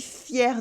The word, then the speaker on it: fier: Or a more heartfelt, je suis fier de toi.